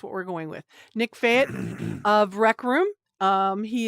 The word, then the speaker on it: Fajt: rec room uh Nick and I've heard it pronounced several ways now so I'm gonna go with Fayette um the why J sounds like a y somebody told me so that's what we're going with Nick Fayette of rec room um he is CEO and